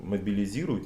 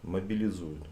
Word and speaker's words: мобилизуют: Под каждым роликом везде насыпают, что мобилизируют, неправильно говорить. А как? Мобилизуют.